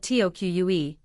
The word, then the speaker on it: toque: A toque spelled t o q u e and pronounced like toque is a warm- knitted winter hat.